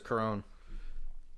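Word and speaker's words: Charon: name right it's carrion I thought it was coron I've I've heard I feel like I've heard it pronounced both ways however it is coron they kill him and I'll do that hurt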